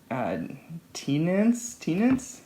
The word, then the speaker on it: Teance: Teance? Yeah, I could see it like pronounced a number of ways. Teance. It's like a seance, but it's a teance.